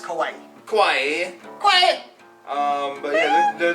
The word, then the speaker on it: kawaii: It's pronounced Kawaii.